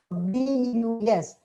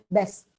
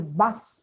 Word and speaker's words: bus: B-U-S. It's invariably pronounced as best, best. You always hear children or students in the evening, besvarne. And it's a bus, actually, bus, Again, same reason. Is not a phoneme in Malayalam.